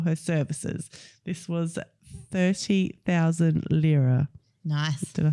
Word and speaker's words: lira: This was 30,000 lira. Nice. Did I say it right? Lyra, yeah.